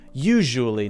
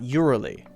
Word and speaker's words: usually: If it's pronunciation and the teacher says, no, it's actually pronounced usually, not urally.